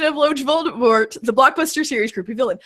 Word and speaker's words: Voldemort: says it wrong and Voldemort snaps him and says, the T is silent.